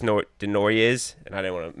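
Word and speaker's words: Desnoyers: It's pronounced like just Denoyers, and I didn't want to mess that up.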